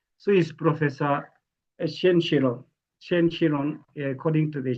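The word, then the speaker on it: Qiron: science behind this uh Chilon is not they pronounce as Chilon but the spelling is Qi Q I R O N then Shen Shen is S H E N so is professor Shen Shiron.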